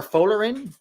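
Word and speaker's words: Folarin: Or Folerin. Folerin is probably closer to Caroline.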